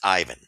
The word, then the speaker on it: Ivan: The guy's Russian. Okay, get over it. It's Ivan, and you guys need to mature up. Try to don't insult the player. Try to at least uh, pronounce his name appropriately.